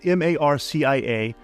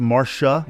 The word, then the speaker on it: Marcia: Now, it's spelled M A R C I A. I believe it's pronounced Marsha in the American way and not Marcia, but just for the